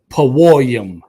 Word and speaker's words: Purim: Paworium, singular pawor.